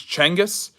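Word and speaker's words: Genghis: their enemies um it genas is not so genas is is the mispronunciation that we we use it's chenis um and his last name is uh is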